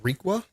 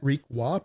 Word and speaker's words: Riqua: If you're just tuning in, or if you're just watching the stream live back, my name is Riqua, pronounced just like that, Riqua.